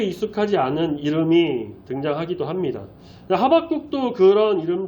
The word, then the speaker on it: 하박국: 하박국도 그런 이름 중 하나지 않을까 싶어요.이 히브리식 이름이다 보니까 어 더 그런 면도 있는데 뭐 호박국, 미역국, 된장국도 아니고 이름이 하박국 이렇게 나오죠. 화박국의 히브리어 본래 발음은요. 하바쿠크로요.